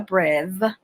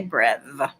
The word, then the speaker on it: breve: So the character that looks like the bottom half of a circle is called a breve or breve, some people say. I say breve.